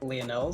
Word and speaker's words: Lionel: I like it to be pronounced Lionel, so like as in Lionel Messi, not Lionel Richie.